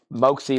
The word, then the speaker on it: Moxie: It's Moxie like Foxy.